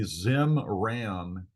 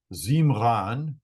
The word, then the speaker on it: Zimran: If we have a vowel in a word that is an I, like in this name right here, the I is pronounced E, like a long E sound. So this name, it looks like in English it would be Zimran is Zimran, Zimran.